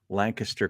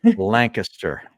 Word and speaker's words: Lancaster: out near my hood Lancaster Country Club say it right Harry Lancaster not Lancaster it's Lancaster I definitely say Lancaster